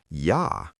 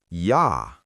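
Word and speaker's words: ja: In German, J is always pronounced like Y. For example, Y that means boy and Yah which means yes. Repeat after me. Yah.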